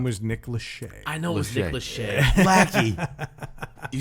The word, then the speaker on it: Lachey: popular band but let's focus on 99 Nick Lackey that's right Jesus Christ you knew who was